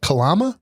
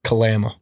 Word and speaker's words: Kalama: How do you pronounce it? Kalama. Kalama.